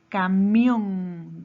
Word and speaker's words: camión: La palabra camión. ¿Dónde lleva la mayor fuerza de voz? En mión, en la última sílaba.